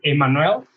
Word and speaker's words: Emmanuel: Yeah, in Spanish it's Emmanuel, but it's very difficult in English, so most of the people call me.